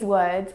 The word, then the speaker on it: word: tricks on you your eyes are seeing these words sing the letters O and R and they're telling you to pronounce or but in fact you should be